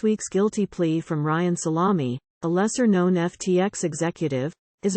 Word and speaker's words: Salame: Salame, whose name is pronounced Salame, last week became the 4th top FTX executive to plead guilty, including to a charge of violating campaign finance law.